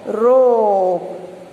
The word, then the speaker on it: rope: ओ है वो long O sound and ई is silent.